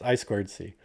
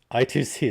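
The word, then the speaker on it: I²C: I always say I2C, but it's I squared C or IIC. Either one of those is correct. I2C is the not correct way to say that.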